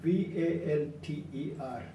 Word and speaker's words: Walter: Walter Longo now Walter is not pronounced as wal ter but it starts with a V for victory v al ter long ago so he